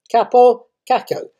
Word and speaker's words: Kaapo Kakko: 13th of February 2001 saw the birth of Finnish sportsman Kaapo Kakko, K-A-A-P-O-K-A-K-K-O. I'm pretty sure the one Finn follower I've got will correct my pronunciation there.